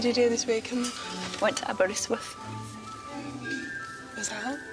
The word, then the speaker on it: Aberystwyth: Am I saying it right? Aberystwyth. Aberystwyth.